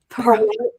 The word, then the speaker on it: Pahrump: Is it Pahrump? Pahrump. Like, it sounds like a Willy Wonka deal.